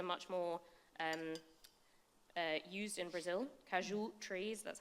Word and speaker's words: caju: Caju trees, that's how you say it, are sort of very common in Brazil.